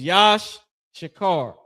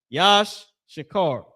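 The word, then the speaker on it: יִשָּׂשכָר: Tribe of Issachar, the so-called Mexicans, that name is Yash Shakar. Yash Shakar.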